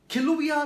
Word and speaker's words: Kilauea: इसको एक्चुअली ऐसे प्रोनाउंस किया जाता है, किलुविया ज्वालामुखी। अगर आप इसको ऐसे देखें तो ये स्पेलिंग कुछ इस तरह से लिखी जाती है, लेकिन जो इसको बोला जाता है तो इस तरह से, किलुविया।